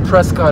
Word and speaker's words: Prescott: Like I said, 2 years after begin production here in Prescott, Arizona, or Prescott, Arizona. The pronunciation is always depends on if you're a douchebag or not.